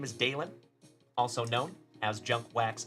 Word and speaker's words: Dalen: My name is Dalen, also known as Junk Wax Vintage. And my name is spelled D A L E N, like Dale plus N.